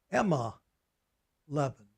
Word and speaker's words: M11: Now, here's what they called them back in those days, this road. Emma 11. They twisted the pronunciation so it sounds like a woman's name.